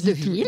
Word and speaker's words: De Villaz: Alors, on va dire Deville. On dit Deville, voilà. Alors je dis Deville. Donc, c'est écrit De Villaz, vous l'aurez compris. C'est écrit De Villaz, on ne prononce pas le Az.